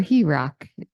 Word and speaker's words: HERC: and rebuilding our communities or herck is how we pronounce it yeah that's it's it's